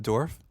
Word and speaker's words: Dourif: I'm showing him Brad Dourif now. Do you recognize him? Are you sure he's not pronounced Dorf?